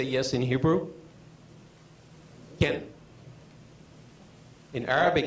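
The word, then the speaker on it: כן: Ken.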